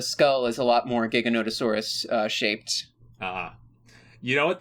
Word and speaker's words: Giganotosaurus: Yeah, and this thing has part Gigantosaurus. You can't... That's what makes it so big. Oh yeah, well, the skull is a lot more Giganotosaurus shaped. You know what? That's a much better pronunciation.